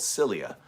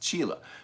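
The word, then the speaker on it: Csilla: chila i used to thought it was called cilia uh throne's home planet the chisholm world it's called it's pronounced chile but that's so that's outside of the like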